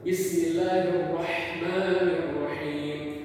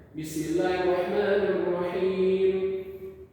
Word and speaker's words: بسم الله الرحمن الرحيم: lantang, yaitu seperti Bismillahirrahmanirrahim, ditekankan pada huruf yang dimana orang itu membacanya salah, seperti di ha tipis ini. Kita harus menekankan di situ Bismillahirrahmanirrahim. Apabila salah di panjangnya atau di harokatnya, maka kita bisa lagi-lagi mendemonstrasikan atau menekankan di kesalahannya Bismillahirrahmanirrahim.